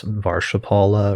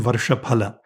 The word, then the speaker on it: varṣaphala: CB: And solar return charts, is the common word that's used for that varṣaphala or something like that? MG: Yes. With the classical Sanskrit pronunciation varṣaphala; varṣa meaning ‘a year’ and phala meaning ‘fruit’.